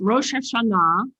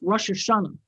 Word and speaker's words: Rosh Hashanah: Pronounce it for us, Gaylia. Is it Rosh Hashanah or Hashanah or? In Hebrew, it's Rosh Hashanah. In Yiddish, which most people think is English, is Rosh Hashanah.